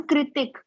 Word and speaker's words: कृतिक: ऋतिक आपका नाम ऋतिक है या ऋतिक है? Ma'am कृतिक। कृतिक, okay, because मैं सोच रही थी शायद आपका के साइलेंट हो, because some people right it के as silent and then Hrithik.